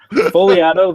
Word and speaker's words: Fogliato: Fogliato, there is a silent G in there.